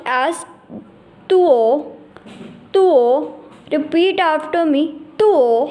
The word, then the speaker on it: duo: Will be pronounced as tuo, tuo.